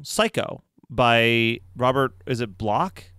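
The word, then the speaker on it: Bloch: by Robert is it block I pronounce it block but yeah Robert block and it's good I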